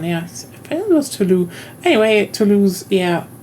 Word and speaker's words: Toulouse: But if it had SE, it's Toulouse. The ending is Okay. Ending S is silent. I think usually at least SE is voiced.